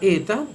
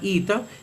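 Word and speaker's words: ἦτα: Estas letras son la letra eta, que en la pronunciación reucliniana se llama ita, y la letra gamma.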